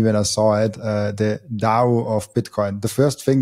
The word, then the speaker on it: Dao: going with standard Chinese, it makes more sense, and I think it's more appropriate to say it and spell it with a D. And so I've had lots of questions about Dao because of this crypto